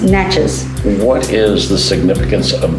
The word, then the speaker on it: Natchez: do you pronounce nachos nachos the natchez indians pronounce it nache not j okay okay like spanish like spanish and then the town is pronounced natchez what is the significance of the mount okay